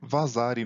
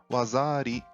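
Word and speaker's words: waza-ari: E a mesma situação ocorre com o que chamamos aqui de vazari no judô e no karatê, que na realidade é wazari, e seria o árbitro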